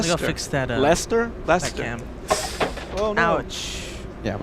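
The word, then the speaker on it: Leicester: of in the UK it's pronounced Lester Lester like Lester from Lester Holt like then here's another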